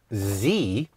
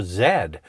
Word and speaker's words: Z: they don't teach that the last letter of the alphabet is pronounced Z in the United States in other English-speaking countries so the UK Australia Canada it's the letter Zed so we speak The